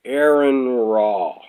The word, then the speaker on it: AronRa: I found out I was pronouncing his name wrong. AronRa.